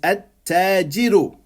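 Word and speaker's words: التاجر: I use my tongue to pronounce this word. So it's at-tajiru.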